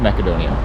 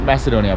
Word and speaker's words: Macedonia: So, officially I am in Macedonia or North Macedonia. It's not Macedonia, by the way. It's Macedonia. I don't know why we pronounce it wrong.